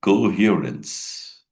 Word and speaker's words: coherence: It is called coherence. Coherence that's the pronunciation coherence like that its meaning is logical and consistent means we have to speak logically in a consistent manner.